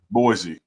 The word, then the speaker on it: Boise: what is that boy Boise you can say Yeah Boy Idaho that's supposed to be Boise Idaho yeah that's how you